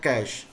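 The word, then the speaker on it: cache: हम लोग कहते थे इसका उच्चारण होता है कैश क्षेत्रफल देखेगा नया वड़ा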